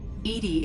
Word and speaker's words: EDI: is a jar why are you named edie edie is the phonetic pronunciation of edi that is an acronym for